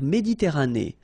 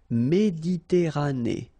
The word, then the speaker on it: Méditerranée: La mer Méditerranée. Okay, here final E not pronounced, but then you pronounce this E at the end. Méditerranée.